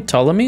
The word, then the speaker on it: Ptolemy: of the rcm is his name ptolemy is this a common name because that's a pretty cool name i like the silent p he's one of the